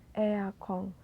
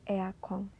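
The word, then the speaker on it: エアコン: Kagami lemari todana AC eakong nah AC juga ini berasal dari bahasa Inggris yaitu Air Conditioner yang disingkat menjadi eakong jadi ada juga beberapa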